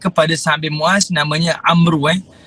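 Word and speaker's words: عمرو: Baik, tengok dalam peperangan ni, dalam perang Uhud, adik-beradik kepada Sa'ad bin Mu'az namanya Amru. Kalimah tu disebut Amr. Hanya sebutannya Amru.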